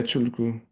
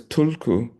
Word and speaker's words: tulku: Yeah, chulku. And that's why they call reincarnated teachers chulku, which people hear as tulku because they don't know it's a retroflexed palatal tr tr tr.